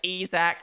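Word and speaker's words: Isack: In French, he's called Isaac. And when I was recording it, I was like, fuck it. Let me say Isaac. One, because that's how you actually pronounce it.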